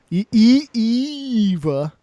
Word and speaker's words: Ava: Eva. Eva. So I love French the announcer. Canadian. I love the announcer. Because Ava is the standard pronunciation of that word.